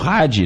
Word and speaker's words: Radde: E até queria convidar que se todo mundo pudesse aí seguir as nossas redes sociais, Hadi, o Hadi se escreve R-A-D-D-E, coloca lá, a gente